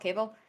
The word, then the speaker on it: Cavill: Oh my God, I always say his name wrong. Henry Cavill, Cavill.